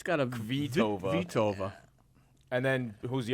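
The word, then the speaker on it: Kvitová: I think it's someone named like Creatova. Am I correct with her pronunciation? I No, it looks like K vi ova. So, it's got a vtova.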